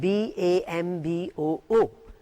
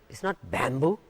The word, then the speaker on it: bamboo: The word B-A-M-B-O-O. It's not bamboo, it's bamboo.